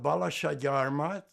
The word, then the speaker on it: Balassagyarmat: I was born in Hungary, in a small town called Balasagyarmat. Would you like me to spell it?